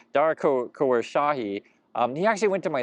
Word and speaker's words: Khosrowshahi: Dara Khosrowshahi.